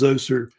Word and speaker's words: Djoser: They think, of course, the first king to build step pyramids, of course, was a king named King Djoser, sometimes pronounced Zoser also as well, who is known as also by the name Necherkit.